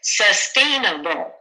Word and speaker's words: sustainable: Sustainable. Da, da, da, da. Da, da, da, da. Same as environment.